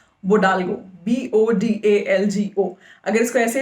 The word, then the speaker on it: Bodalgo: इसके बाद हम आते हैं, इस वेबसाइट का नाम है बोडाल्गो, BODALGO। अगर इसको ऐसे ही प्रोनाउंस करते हैं तो आई एम श्योर, लेकिन मैं स्पेलिंग बता रही हूँ आपको, BODALGO।